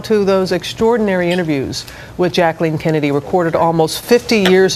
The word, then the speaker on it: Jacqueline: that's right you know we called her jacqueline or jackie but her name was jacqueline that's how she pronounced her name that's what she said and so we thought these